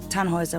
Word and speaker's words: Tannhauser: what's your name Tannhauser we pronounce it tan Wazza with a long load German roots yes my grandpa